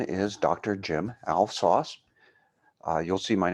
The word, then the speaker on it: Alves Foss: I want to just remind people it is Alves Foss, the whole name. It's not just Foss, it's not Alves. It's a two-syllable. Think of Santa Claus, Elves Boss. It rhymes with that.